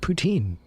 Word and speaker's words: poutine: Poutine is pronounced poutin.